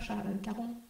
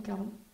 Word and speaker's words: Charon: déposent pour le pasteur Charon. Je ne sais pas si on le prononce Charon ou Caron. Charon.